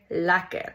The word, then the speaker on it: lekker: It's written like this, but it's pronounced like this, like clear lekker.